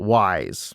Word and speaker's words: Weiss: Okay, so it's spelled Weiss, but they say it Wise.